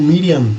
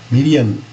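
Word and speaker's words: Miriam: lá mesmo em Israel eles pronunciam o nome dela como Mirian né Mirian então por isso que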